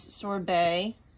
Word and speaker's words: Sorbet: girl's name so here's Sor Bay right here there is a t at the end but you actually don't pronunciate the T so you can see